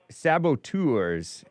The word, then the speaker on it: saboteurs: Yeah, saboteurs is how that one word is pronounced.